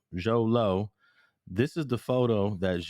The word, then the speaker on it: Xolo: Xolo. Zolo.